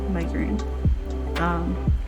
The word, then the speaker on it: Megurine: And then she made me Renge from Oran High School Host Club, and she made me Luca Megurine. Is that how you say it? Yeah, Megurine.